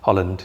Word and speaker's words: Holland: How you pronouncing it? Holland. Holland. Yeah. Holland, yeah. Like the country.